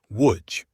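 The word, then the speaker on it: Łódź: You're probably mispronouncing. Say it with us. Woodj.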